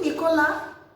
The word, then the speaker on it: Nicolas: entre a Marie e Nicolas. Marie e Nicolas. Observem que Marie termina com E. E a gente fala Marie. E Nicolas, mesmo caso do Lucas. Termina com S, mas a gente para no A.